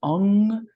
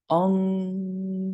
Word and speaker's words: Ong: Ong So Hung. When we've done the Tibetan, we've done a 3-1-3 count, and we'll do that here. Ong So Hung. The emphasis is on the NG.